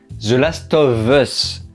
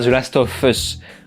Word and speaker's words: The Last of Us: il faut absolument que je prenne l'habitude de prononcer The Last of Us et non pas The Last of Us on va repris dans les commentaires et je